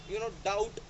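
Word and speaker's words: doubt: और जब ये टी से पहले आएगा, यानी टी लेटर से पहले आएगा, तब ये साइलेंट हो जाएगा। लाइक डाउट, सर्टल, डेट, ये सारी चीज़ें।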